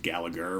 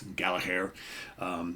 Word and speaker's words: Gallagher: or sorry Rory Gallagher I'm trying to say it like the Irish folks say say his name I all my life I've said Gallagher right but it's Gala hair so Irish tour it's